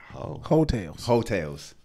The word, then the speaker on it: Heaux Tales: Hotels. I thought it was Ho, but I didn't look like Ho.